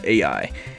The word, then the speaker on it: Aoye: I think I'm pronouncing that name wrong. I went to a little pronunciation website and they said AI.